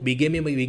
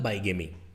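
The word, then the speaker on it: bigamy: Type देखो बीगेमी मतलब बाईगेमी, हम लोगों की आदत पड़ी हुई है बाईगेमी बोलने का। तो जो जज साहब हैं वो बीगेमी बोल रहे हैं, इसका मतलब उनका प्रोनाउंसिएशन ज़्यादा ठीक है।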